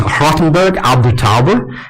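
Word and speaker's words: Rothenburg ob der Tauber: This is Rothenburg ab der Tauber, so my mother-in-law tells me it's pronounced.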